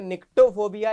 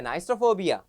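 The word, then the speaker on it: nyctophobia: कुछ लोग इसको पढ़ेंगे निक्टोफोबिया, लेकिन ये निक्टोफोबिया नहीं है, ये है नाइस्ट्रोफोबिया।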